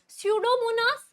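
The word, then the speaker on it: Pseudomonas: से होता है आपका सुडो मोनस ठीक है पी से उसका पीस साइलेंट होता है और कौन सा हो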